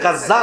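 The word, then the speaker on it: غزة: পাশে দেখবেন বর্তমানে যেখানে গাজ্জাক অবস্থিত আপনারা গাজ্জা বলেন আরবিতে উচ্চারণ হলো গাজ্জা যেখানে গাজ্জা অবস্থিত সেখানে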